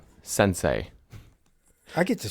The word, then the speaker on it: sensei: Some of that where the ice was coming into the homestead of Sensi. Sensei.